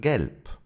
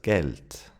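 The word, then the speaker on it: Geld: We don't say gel, but gelt. The final d sounds like a t.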